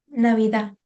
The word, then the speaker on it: Navidad: And Christmas, Navidad, the final words is T, and we don't pronounce it at all. So we say Feliz Navidad.